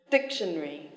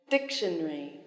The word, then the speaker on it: dictionary: then three syllables yes the stress is on the first syllable dictionary dictionary complicated complicated elevator elevator